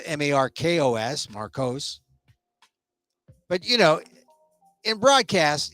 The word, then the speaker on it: Marcos: top of my head I'd say Marcos m-a-r-c-o-s but if you had a problem if you'd never say marsos oursos you wouldn't spell m-a-r-k-o-s Marcos but you know in